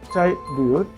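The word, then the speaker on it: tribute: যেমন এটা আমরা দেখতে পাচ্ছি শুরুতে ট্রাইবিউট, শ্রদ্ধা। এর উচ্চারণটা আমরা ট্রিবিউটও করতে পারি, নো প্রবলেম।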